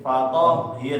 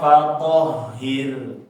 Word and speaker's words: فطهر: Jangan terputus bacaannya, tetapi dia dikasih aliran nafas ya. Fatoh, jangan fatohir ya, tapi dialirkan. Toh ya. Kita coba lagi. Wa thiyabaka fatahhir.